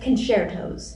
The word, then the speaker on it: concertos: Yes, it's pronounced concertos, Matt.